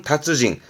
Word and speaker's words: 達人: 발음은 다츠징, 음은 다츠예요. 다츠징. 그걸 달자라고 해서 발음은 다샤.